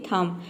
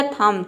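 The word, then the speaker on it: thumb: किसी भी वर्ड में एम भी एक साथ आता है तो वहां पे बी साइलेंट रहता है।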